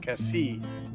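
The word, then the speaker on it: Cassis: our next stop after exit provance was C Cassie it's pronounced and there's a beautiful beach there and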